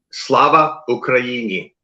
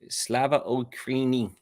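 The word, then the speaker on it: Слава Україні: How do I pronounce that again? Slava Ukraini? Slava Ukraini. Slava Ukraini.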